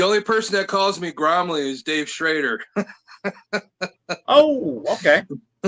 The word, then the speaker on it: Gormley: I struggled to pronounce his last name, but Gormley, I believe it is. He can punch me in the face if that's wrong. You're close, Len. It's Gormley.